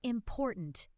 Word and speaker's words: important: Important. The second syllable is stressed.